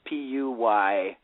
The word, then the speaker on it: Puyallup: I'm not from here how do you pronounce p-u-y-a-l-l-u-p I don't want to sound too much like an idiot that would be Puyallup yeah sometimes for for